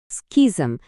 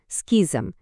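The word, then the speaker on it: schism: স্কিজম। শব্দটার উচ্চারণটা একটু অন্যরকম। স্কিজম।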